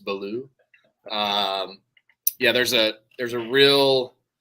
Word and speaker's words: Ballou: It's like you can kind of pronounce it like it's French and just it's still Ballou. Like the T is silent and it's just Ballou.